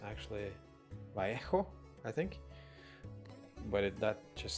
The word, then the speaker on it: Vallejo: I think it's a Spanish brand, so actually it's called, because double L is pronounced as like a J, so it's actually Vallejo, I think, but that